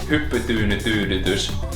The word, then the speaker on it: hyppytyynytyydytys: Because the way you pronounce that word is: "Hyppytyynytyydytys."